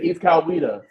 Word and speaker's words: East Coweta: If you're gonna be covering this GA team, you gotta have the pronunciation right, brother. Sure. So you say East Coweta?